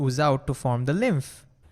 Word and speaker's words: lymph: And it's pronounced as lymph with an F over there.